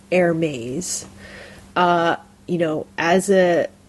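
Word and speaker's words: Hermès: a French word so it's a French word so so a lot of people call it Hermes right it's like the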